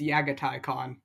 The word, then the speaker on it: Jaghatai Khan: tell the haters but you actually pronounce the J as a y go around telling people it's yagai khon yagai cat that's messed